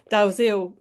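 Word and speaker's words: Dalziel: mentioned in the introduction the pronunciation of Daoil which I had previously I had always said Dell myself as um um but like you know it is a name that's pronounced DL but um Elsa Dil um in an interview um with Simon Hoof Um, uh, you said that the family had pronounced it Dil and was very clear about that.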